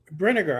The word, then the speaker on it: Brinegar: Pronounced, think of the word vinegar. Brinegar. I thought that's what I said.